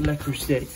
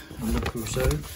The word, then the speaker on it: Le Creuset: So it's not Le Creuset, Le Creuset, how you pronounce it, but it's, have a look.